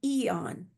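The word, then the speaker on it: Aeon: Um, but the inflammatory reduction patch is called Eon. It's spelled AEO N, pronounced Eon.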